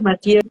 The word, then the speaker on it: Mathieu Ricard: y el otro es Mathieu Ricard, se escribe Mathieu, y Ricard como Ricardo en francés, 50 libros de él